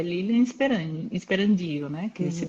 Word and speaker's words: Sperandio: pessoa não sabe ler porque na verdade não tem acento circunflexo no A então não é esperandio é esperandio é lindo seu